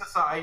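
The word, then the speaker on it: açaí: It's acai. You're right. Okay, good. Because I've heard it said so many different ways, and I'm like, I don't know which one's right. So I get the strawberry acai lemonade.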